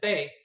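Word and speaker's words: bass: this deep male singing voice is spelled the same as a fish but it's pronounced differently what is base music for six foreign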